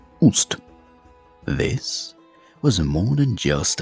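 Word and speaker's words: Ꜣst: So, let's start with the most iconic of her symbols, the throne glyph, pronounced Ust.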